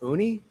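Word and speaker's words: uni: Who's going to have a good pronunciation on these two? Jamie, you're educated. Sea urchins. Actually, what is it? Oonie. Yeah. Sea urchins. Oonie.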